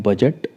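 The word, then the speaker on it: budget: और एग्जांपल लेते हैं बजट बी यू डी जी ई टी तो जी से पहले डी है वो साइलेंट रहेगा सीधा प्रोनाउंस करेंगे बजट बजट लेखा झका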